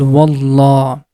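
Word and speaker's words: والله: When there is a Fatha or Dhamma before the name of Allah, that time we are going to pronounce letter Lam with heavy sound. The sound becomes Wallah.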